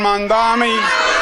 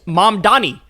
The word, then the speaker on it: Mamdani: Congratulations to Zoron Mandami. He literally doesn't know how to say He still doesn't know how to say his name. It's Mom Donnie. Mom Donnie. Mom Donnie. It's not that hard.